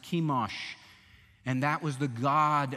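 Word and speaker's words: Chemosh: their god was kimash c-h-e-m-o-s pronounced kimash and that was the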